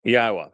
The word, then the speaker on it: Yahowah: hundreds of them and the Y sound in Hebrew is pronounced exactly as the Y is in English it's a legacy of